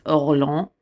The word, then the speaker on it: Orléans: call the campaign of, in English we would say Orleans, like New Orleans, Orleans. I believe in French it's Orléans, but again, we're just gonna say Orleans because we're Americans, and I'm an American, and I'm doing my best.